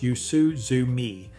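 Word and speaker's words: 夕涼み: This habit is called yusuzumi, pronounced yoo-soo-zoo-mee, and it's about more than enjoying the evening.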